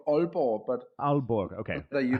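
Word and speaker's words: Aalborg: is it is it albergue is that how I pronounce that yeah well it's Danish it's called all poor but albergue okay that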